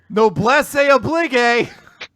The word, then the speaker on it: noblesse oblige: Noblesse oblige! Which I think is actually a more accurate pronunciation than you might suspect.